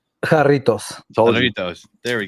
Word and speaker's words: Jarritos: Jarritos. Told you. Doritos. There we go. All right. Jarritos. I got that There right. we go. All right, Doritos. Okay. Jarritos, yeah.